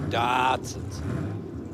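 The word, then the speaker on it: Datsun: Datson. Yeah. No, Nissan. They haven't heard of Oh, they used to call him in America Dartson. D A R Ts U N.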